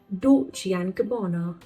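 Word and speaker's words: Dolce & Gabbana: It is doli and gabana. Dolian gabono. We pronounce it like not and but like alphabet n.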